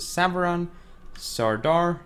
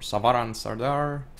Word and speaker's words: Savaran Sardar: these abilities now we see the savan Sardar or savaran Sardar depending on how you want to pronounce it melee damage armor